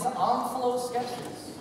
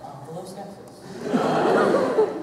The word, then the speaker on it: Omphaloskepsis: Your word is Omphaloskepsis. Wait a second. Didn't the guy who wants to yell at children just get Mexican? And you got Omphaloskepsis.